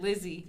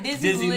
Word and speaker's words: Dizzy Liv: Look, the last time you said Lizzie, but this. See, look at that. I told you I did. I be chopping. But you said it right, Dizzy Liv.